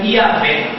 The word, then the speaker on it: Iavé: A pronúncia disso seria Iavé.